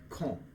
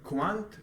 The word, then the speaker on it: quand: They pronounce they when like con. Repeat after me. Con. So Con. it's not quant, like in Italian, if I'm not mistaken, they say quando, but in French they say con.